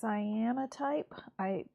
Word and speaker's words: cyanotype: Yeah, cyanotype. That's maybe how it's pronounced. But it's spelled like cyan and then O type. All one word.